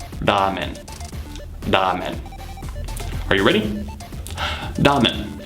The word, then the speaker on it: ramen: In Japanese, the correct pronunciation is ramen.